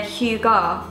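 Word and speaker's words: hygge: the book of hayi oh pronounce Huga Huga is that right hi it's spelled h y w g e but it says here Huga it's a feeling of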